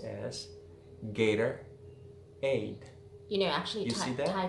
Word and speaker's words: Gatorade: In American English, many times, Americans will almost pronounce as a like D, a T sound, very soft, and almost not pronounced. For example, you know the sports drink, Gatorade, but when you read